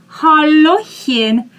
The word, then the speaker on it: Hallöchen: I want to remind you that ch you pronounce as soft h. We saw this when we learned the word ich, I. Okay? Hallöchen.